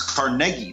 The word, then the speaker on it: Carnegie: It's Carnegie. That's how you pronounce his name.